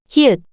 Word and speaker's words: 히읗: pieup, 피읕, pieup, 피읕, pieup, hieut, The name of this consonant is hieut, hieut, the same h sound you make when you pronounce hat.